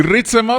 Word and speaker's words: Ritsema: Y Ritzema son 3 sílabas.